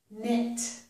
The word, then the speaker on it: knit: However, if the letter K is followed by the letter N, then it does not make the k sound. Instead, it makes the N sound, like the letter N. K plus N makes the N sound. It does not make a K sound. Here are some examples. This is knick-knack, kneel, knit. So in each of these words, with the KN, we do not hear K.